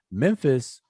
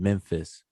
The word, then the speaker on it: Memphis: And Memphis, remember, Memphis is the way that we say it comes out of the Greek, filtered through the Greek spelling and pronunciation, Memphis, but it's actually Men Nefer.